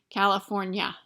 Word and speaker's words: California: When there's an N-I-A like that in a word, it's pronounced nya. California.